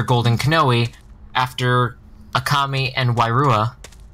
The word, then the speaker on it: Wairua: During Legend of Motunui's final cutscenes, the Toa appear to lose their golden Kanoe after Akami and Wairua, or Wairuha, however you pronounce it. It's just Akamai and Wairua.